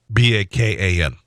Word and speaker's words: Bacon: about his last name, which is pronounced Bacon. He said, "At first I thought it was a joke. The real way my name is pronounced is Bacon.